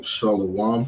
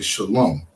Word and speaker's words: shalom: about Mand shalawam um we say shalom right Shalom right that's the correct way to say shalom in our language that the correct way